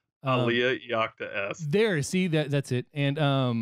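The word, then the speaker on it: Alea Iacta Est: Aliyah Iacta S.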